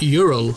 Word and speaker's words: Hyrule: In the Swedish dub of the Zelda cartoon, Hyrule was pronounced Ural.